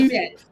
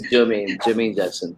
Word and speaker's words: Jermaine Jackson: Jimani. No, it's Jermaine Jackson.